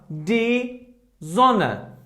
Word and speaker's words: Sonne: Okay, here, look, if after S we have these alphabets, I mean A, O, U, I, E, A umlaut, O umlaut, U umlaut, and epsilon, then S should be pronounced like Z. Like Z. For example, here we have die Sonne.